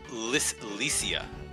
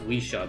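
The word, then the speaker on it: Lisia: Who is Licia? Yeah, I will accept that. I think it's pronounced Weesha, but that is Leisha?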